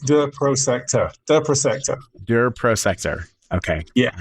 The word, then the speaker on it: Prosector: Prosector.